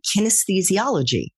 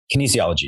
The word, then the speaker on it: kinesiology: you were in the classroom you majored in kinesthesiology is that right Kinesiology yeah how do you pronounce it Kinesiology Kinesiology did you no I